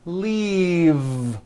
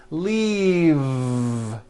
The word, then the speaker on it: leave: with a voiced V keep the voicing going throughout the whole word and voice the V leave like that if you stop the voicing at the end of the vowel E then you would be saying leaf with an unvoiced F and the word we're trying to say is leave with that voiced v okay now let's look